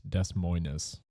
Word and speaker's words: Des Moines: But It's Des Moines. I don't want you to mispronounce French.